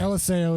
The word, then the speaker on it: Eliseo: Is it Eliseo? Eliseo. I want to say his name the right way. I bounce back and forth. Okay. Eliseo is the correct way to say it.